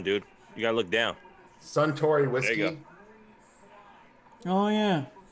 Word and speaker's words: Suntory: You're looking too far how do you pronounce forward. it? Look down, dude. You gotta look down. Suntory whiskey.